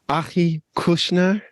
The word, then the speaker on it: Achi Kushnir: back to another tasty Tuesdays today I have Aki Kushner yes that's me yeah I said I said